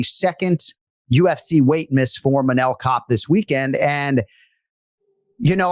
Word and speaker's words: Manel Kape: Manel Kape, like Manel like Kape. A cap almost, but Manel Kape.